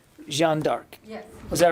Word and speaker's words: Jeanne d'Arc: But the way I was told to pronounce it was Jeanne d'Arc.